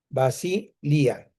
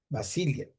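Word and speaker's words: βασιλεία: Basilia, Basilia, así, con acento en la I.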